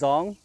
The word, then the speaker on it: Zhong: So it's Zhong, Zhong, Zhong. So it took me a while to come up with an acceptable pronunciation, and I don't even know if that's correct.